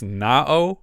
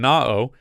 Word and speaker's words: Naoh: going to pronounce this na um it's like Noah with the vowels backward that's how he's credited